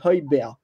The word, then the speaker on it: Højbjerg: En gros, ça se prononce avec un H aspiré, c'est Højbjerg. En gros, le G, on ne le prononce pas vraiment, c'est Højbjerg.